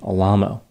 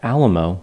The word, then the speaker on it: Alamo: his name to Tony Alo so I will refer to him as Tony even though Alamo would be the pronunciation that comes to mind first Al is the pronunciation he used based on his desire to